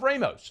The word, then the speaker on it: Ramos: I literally have a video of him saying, "Hey, this is Ramos." Like him saying it. Mm-hmm. The man calls himself Ramos, so I call him Ramos.